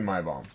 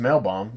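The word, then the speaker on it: Maibaum: that my mom yeah I think he's my bomb It's gotta be my bomb you know otherwise it's a male bomb if there was an L so like you take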